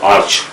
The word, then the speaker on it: arch: Then arch when used, so pronunciation may be either arc or arch, both are acceptable, it depends upon some word.